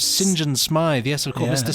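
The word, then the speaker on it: St John: to kill james uh said john smythe uh which is pronounced james sinjan smythe yes of course mr sinjan smythe um sinjin smythe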